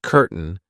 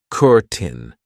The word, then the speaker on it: curtain: I know it looks like curtain, but we pronounce it curtin.